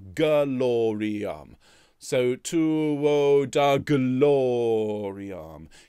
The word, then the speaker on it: gloriam: so when you're seeing glory arm can you can you give that an extra syllable gloriam so to da glory